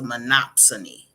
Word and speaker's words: monopsony: that's a tongue twister m o P like Monopoly like Monopoly but it's a monopsony oh there it is